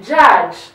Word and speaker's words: judge: A stroke of J and another J, judge. The D is silent here, so we hear the stroke of J and another J.